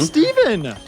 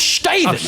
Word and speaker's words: Staven: Yeah, shout out to Steven. No, you said it wrong. It's Staven, all right, Frank?